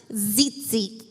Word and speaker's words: tzitzit: It's pronounced tzitzit.